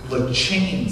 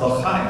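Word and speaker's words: לחיים: And then somebody looked at me, Corey, and said the word's pronounced L'chaim. And I said, something caught in your throat. And they said, no, that's how you pronounce the word, L'chaim, to life.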